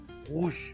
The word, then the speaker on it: rouge: We pronounce it with the throat, rouge.